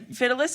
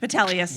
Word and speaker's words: Vitellius: Fidelis, who was described, I don't know if that's how you say his name, he's described as having a medicine ball belly.